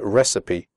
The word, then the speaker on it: recipe: If you have to describe a recipe in the speaking test, make sure you pronounce the word recipe correctly. The ending CIPE is pronounced sipi, recipe.